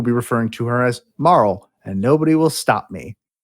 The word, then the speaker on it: Marle: I also pronounce it Marl. I've heard it pronounced Marla. I've heard it pronounced Marley. And they're wrong. They are wrong. Marl makes the most sense. Well, apparently her name in Japanese is Maru.